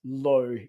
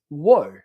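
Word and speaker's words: Ło: But because I have a Polish last name, a lot of people don't know this, but low is not pronounced low in Polish. It's pronounced wo, like W-O.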